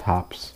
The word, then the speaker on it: H2OPS: in the name so it kind of looks like h2o like water but it's pronounced hops the two is silent and this has zero